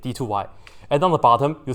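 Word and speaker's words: d²y: It's not really like d squared, but we put on d2y. That's how you say it, d2y.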